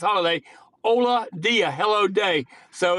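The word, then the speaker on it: Holadia: going to change it it's spelled h o l a d i a it's pronounced holiday h o l a d a pronounced holiday Ola Dia hello day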